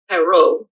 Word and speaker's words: Perrault: In France you had Charles Perrault. That's my my terrible French pronunciation of his name.